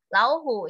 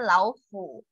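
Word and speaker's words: 老虎: orang yang agak berumur, dia suka bilangnya laufu. Dia bukan bilang lauhu ya, dia membacanya menjadi laufu. Itu pengucapan yang tidak begitu tepat ya, tepatnya adalah lauhu ya.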